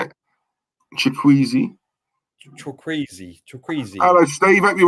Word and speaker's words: Chukwueze: Yeah, Chukwueze, I think his name is. Samuel Chukwueze.